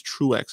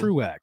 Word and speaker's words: Truax: watching a prior fight uh yeah it is truex it's pronounced so truex so for anybody watching listening i know i'm